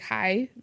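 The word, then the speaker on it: hej: fun fact in Danish to say like hello when you walk in you say hi but it's spelled h EJ so you like hi that's how you say it so I really yeah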